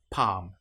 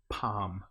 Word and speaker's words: palm: an example might be palm in this case the L you will notice is not pronounced at all palm or calm another time